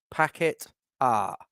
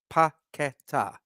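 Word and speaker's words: Paquetá: So, but yeah, I think that Scamacca is better with Paqueta in the team, and that is how it's pronounced, Duke. Paqueta, Paqueta.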